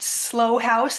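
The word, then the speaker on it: Slough House: It's about slow house. That's pronounced S L O U G H.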